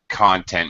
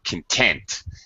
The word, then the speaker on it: content: the uh English here content meaning what something is made of or content here we mean okay we pronounce these differently by the way the content of the class or SOC is quotes from Socrates is the content of the class content means um happiness satisfaction okay so I